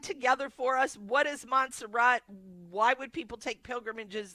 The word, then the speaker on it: Montserrat: Okay Joni, Montserrat, am I saying that right?